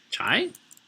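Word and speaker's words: Chei: But when I'm abbreviating it, like C-H-E-I, I like to pronounce it Chai.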